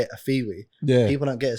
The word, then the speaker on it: Afewee: you know a lot of people because they're pronouncing it where we say it a fiwi yeah people don't get it straight away I